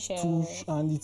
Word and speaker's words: Seychelles: And for the fact that the name is actually Seychelles, Seashells. I was thinking this pronunciation of the name is Chills.